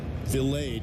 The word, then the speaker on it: Vilade: Vilade is actually the pronunciation.